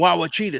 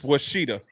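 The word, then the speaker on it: Ouachita: senior they from just- Wawachita State. They just making picks Sorry, up and shit. These people Washita. don't even exist. It's Washita. Washita? Yeah. Man, tell them to spell it right then.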